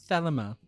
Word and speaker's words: Thelema: Thelema. All right, Wes, what do you know about Thelema? I know how to pronounce it now.